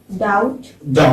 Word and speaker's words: doubt: Doubt.